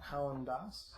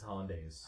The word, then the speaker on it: hollandaise: very similar howland days hollandaise yes not helen das it's hollandaise that's how i pronounce it i don't know one